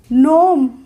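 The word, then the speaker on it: gnome: हमने प्रोनंसिएशन नहीं किया नोम नोम हो गया तो इसमें भी जी नहीं बोल रहे हैं अगर हमें नहीं पता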